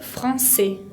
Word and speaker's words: français: la garganta, professeur de français. Français tiene esa C con cedilla característica del francés que se pronuncia como una S, y la S final no la pronuncio.